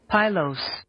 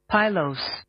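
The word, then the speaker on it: pilose: Your word of the day is spelled P I L O S E. Spelled P I L O S E. Pyos. Pyos. Pyos. Pyos is your word of the day.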